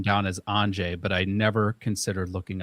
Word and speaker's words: Andrzej: So I got the first name down as Andrzej, but I never considered looking up how to pronounce the last name.